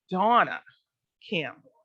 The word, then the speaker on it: Dawna Campbell: My guest today is Dawna Campbell. Now I gotta get my pronunciation right. Dawna Campbell. Got to put that W in there.